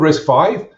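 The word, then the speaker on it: RISC-V: times in the meantime so it's called risk five pronouncer is five uh because it's the fifth major berkeley risk isa so going back to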